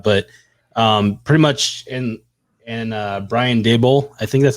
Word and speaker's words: Daboll: head coaching job, but pretty much and Brian Daboll, I think that's how you pronounce it.